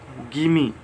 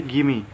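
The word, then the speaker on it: gimme: Next contraction है गिमी, ठीक है, गिव मी। इसे आप क्या पढ़ेंगे, गिमी।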